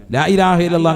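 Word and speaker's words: لا إله إلا الله: ലാ ഇലാഹ ഹംസയാണ്, വളരെ ശ്രദ്ധിക്കണം. ലാ ഇലാഹ ഇല്ലല്ലാഹു. അപ്പൊ ഒരെണ്ണമായി. ലാ ഇലാഹ ഇല്ലല്ലാഹ്. അവസാനം നീട്ടി ഹാന്റെ ഉച്ചാരണം കൊടുത്ത് തന്നെ നിർത്തണം.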